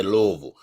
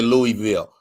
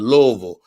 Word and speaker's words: Louisville: raised in louisville kentucky that's how they say louisville everybody else say louisville uh but they pronounce it louisville and at her at her first cousin's wedding